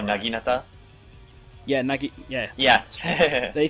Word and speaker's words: naginata: So for example, Niburu, a lot of people thought she'd use the uh Najinata. Am I pronouncing that? Oh, Naginata.